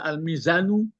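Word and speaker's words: الميزانُ: Kita bisa membaca Al-Mizanu. Kenapa berani awak membaca Al-Mizanu? Mubtada. Ya, karena mubtada.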